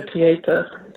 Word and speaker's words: Pietà: I saw the, and I always pronounce it wrong, the Pietà, did I pronounce that right? Yeah, Pietà. Pietà, yeah, I always get that wrong.